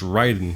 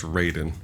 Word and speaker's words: Raiden: It's like we when we learned how to pronounce Ryden, but when you see Christopher Lambear's performance, no, that's Raiden.